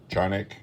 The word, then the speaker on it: Canik: see on here it's canik or pronounced in turkish johnic kane kachanic chunk whatever the hell it